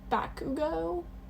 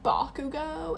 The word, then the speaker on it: Bakugo: Also, on the topic of My Hero Academia, I think I've pron I've been pronouncing Bakugo wrong. I think I've been saying Bakugo, but it's Bakugo.